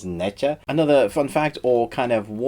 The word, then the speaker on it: Nezha: It's actually pronounced Naja, I believe, although the English spelling of it is Necha.